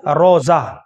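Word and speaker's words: روضہ: اس سے اگلا نام ہے روزہ. اگر صحیح اعراب کی بات کریں تو را کے اوپر زبر ہے، را واو زبر رو، روزہ. عرف عام میں روزہ بول دیتے ہیں.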